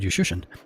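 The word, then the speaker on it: Juszczyszyn: The first time I asked him about that, he says, and actually I spelled it phonetically, and I just put a U and shun. And since then, that's how I pronounce it.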